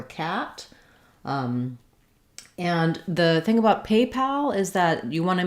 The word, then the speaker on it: PayPal: when we have paypal the spelling is fairly straightforward here we have the a vowel and we do typically spell that with a y or a i so it is just like the word pay pal might be a little trickier uh just because the a and o sound might be challenging for you paypal pal we do also have the word pal it's got the same vowel as in sat or cat and the